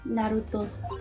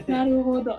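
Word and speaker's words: 成歩堂: Why are you even on board this ship, Naruto-san? Naruto-san. Naruto. Wait, Naruhodo. Naruhodo. Wait, Yes, Naruhodo. Yeah. Naruhodo.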